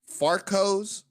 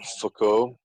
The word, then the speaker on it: Foucault: Farcos. It's pronounced Foucault.